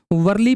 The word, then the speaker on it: वारली: वर्ली painting. वर्ली भी कहते हैं, वारली भी कहते हैं, इसका प्रोनाउंसिएशन अलग अलग होता है।